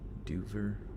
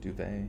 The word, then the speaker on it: duvet: still under her doof what is this duver dover duvet i think it's do they but i pronounced to rhyme with cover dover occasionally spelled dubber is